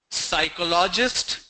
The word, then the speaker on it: psychologist: The first word is psychologist. Psychologist? No, it's psychologist. It's not psychology. When we say psychology, then we stress on the second syllable, psychology. But this is psychologist.